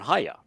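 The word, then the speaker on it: היה: And so you can look up Haya and you say, all right, Haya has the Yod, the Hey, and Hey, a Yod, and a Hey. Yeah. And it's pronounced Haya.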